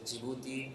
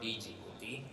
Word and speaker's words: Djibouti: call it the jouti so the pronunciation is jouti and not Djibouti so that is the